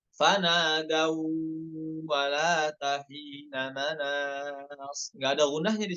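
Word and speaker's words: ولات حين: Bukan dibacanya wala wala terus dipisah taknya tahina, salah. Namun ya apa, baca yang benar wala tahina seperti itu ya.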